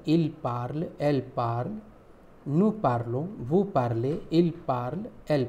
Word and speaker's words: parlons: So it becomes P-A-R-L-O-N-S. Pronunciation is nous parlons anglais, we speak English.